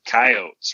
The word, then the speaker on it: Coyote: Wile E. Coyote because Wile E. does rhyme with Coyote.